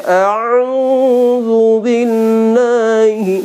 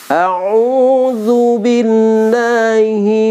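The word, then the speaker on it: أعوذ بالله: Kadang kesalahan itu ya, saking pasnya a'udzu billahi. Nah, itu salah itu membacanya ya. Jadi kalau sesuai dengan makhrajul huruf yang benar tuh a'udzu billahi minasyaitonir rajim. Nah ya, jadi bahasa ta'awudz ini ya artinya apa ya?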